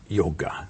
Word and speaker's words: Yoga: Yoga. A pronúncia yoga correta, universal, para o mundo inteiro e desde as origens no sânscrito na Índia, yoga.